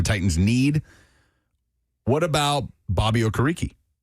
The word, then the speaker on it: Okereke: What about Bobby Okereke?